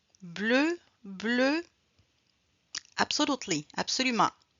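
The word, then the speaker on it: bleue: Bleu. Absolutely. Absolument. Parce que féminin, on ajoute la lettre E mais on ne le prononce pas.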